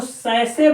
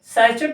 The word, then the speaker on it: sachet: SACHET है, इसको सैसे पढ़ते हैं, ध्यान दीजिएगा, यहाँ पे टी साइलेंट है, ये सैसे है, सैचेट नहीं है।